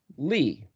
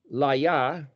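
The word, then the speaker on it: לי: Well, this is the word Li. You could pronounce it, I suppose, Laya, but generally it's L-Y or L-I, so Li.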